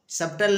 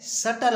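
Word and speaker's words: subtle: इसी तरह से है एस यू बी टी एल सबटल नहीं है सटल है क्या है राजू सटल इसको पढ़ेंगे सटल सटल मीस सूक्ष्म या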